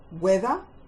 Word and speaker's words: whether: Whether, as in whether or not you know the answer. W, silent H, eth, as in 3, as in flower.